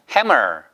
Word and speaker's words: hammer: 그냥 hammer. 그러니까 M 발음을 두 번 하시면 안 돼요. 받침에도 넣고 위에도 넣으면 안 됩니다.